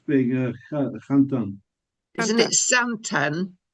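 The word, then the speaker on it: Xanten: Isn't it zanten with a z like a zed? Sounds Chinese. Anyway, zanten.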